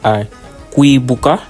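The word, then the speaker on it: Kwibuka: So the sign behind me is pronounced a quibbuka. It is a wonder language and it means in English never again.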